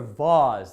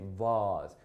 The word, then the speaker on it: vase: these vase or vaws there are two different ways to pronounce this these and vars i believe the origin of the word is french and thus some people will say vaz other people will say these right anyhow so that's